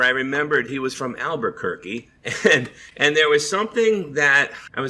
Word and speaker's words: Albuquerque: Taika Waititi uses this line about Albuquerque turkey, and that just stuck in my head as Albuquerque rhymes with turkey.